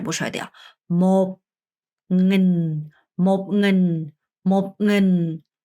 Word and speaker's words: một nghìn: 그래서 1천은 발음이 어려우니까 잘 듣고 제 입모양을 잘 보셔야 돼요. một nghìn, một nghìn, một nghìn, một ngàn, một ngàn, một ngàn, một nghìn, một ngàn 이라고 합니다.